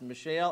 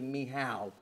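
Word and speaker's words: Michal: this name Michelle okay now I've heard of pronounced Michelle I've heard it pronounced Michael they're both wrong uh the way you pronounce it is actually miow but I can't do that all day okay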